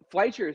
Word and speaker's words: Fleischer: I I said Fleischer, didn't I? Isn't it Fleischer? Is that? No, Oh, you yeah, said it right.